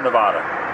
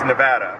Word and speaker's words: Nevada: Do you say Nevada or Nevada? It's Nevada. Nevada. Okay. It's not Nevada. That's a California thing. Nevada. Nevada. The locals will thank you for saying it correctly. Nevada. Nevada. Yeah, well, Nevada. There's no... Nevada! It's not like avocado. It's Nevada.